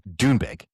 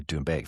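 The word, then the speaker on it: Doonbeg: So, if you're in Dunebeg, as the Americans say it, they they don't say Dunebeg, they say Dunebeg. They say it as quick as they can.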